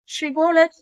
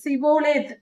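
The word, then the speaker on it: שיבולת: வருகிற யார் துறைமுகப்பட்டணத்திற்கு வந்தாலும் ஷிபோலத் என்று சொல் என்று சொல்வார்கள் ஷிபோலேத் என்றால் அந்த ஸ்ரீ என்ற உச்சரிப்பு எப்ராஹிமருக்கு சொல்ல வாயில் வராது அவர்களுக்கு சொல்லத் தெரியாது அவர்கள் சிபோலேத் என்று சொல்வார்கள் சிபோலேத் என்று சொல்லுவதினால் அந்த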